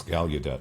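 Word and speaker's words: Gallaudet: Thank you for that introduction and for for Justin for telling me how to pronounce Galudet because that wasn't obvious from the article.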